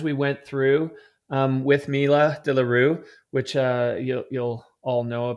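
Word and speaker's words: de Le Rue: De la Rue.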